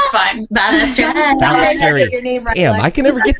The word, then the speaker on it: Balestrieri: I want to welcome to the podcast again, Stefanie Davis, Chelsea Wolf, and Balestrieri. I said it right. It's fine. Balestrieri.